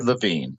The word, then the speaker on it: Lewin: this great man's name well actually if you were in Germany you might have said LaVine okay but when he